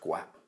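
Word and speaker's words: Gaupp: as well as Captain Guam gu a PP I think that's pronounced Guam Chatterjee takes up the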